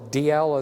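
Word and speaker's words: Dalziel: So DL is how you pronounce D-A-L-Z-I-E-L.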